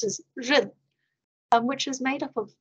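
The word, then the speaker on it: 仁: And the Chinese word is pronounced as ren, which is made up of two parts, as you can see.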